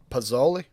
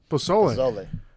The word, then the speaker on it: pozole: I might pronounce it wrong. Pozzoli. Pozole.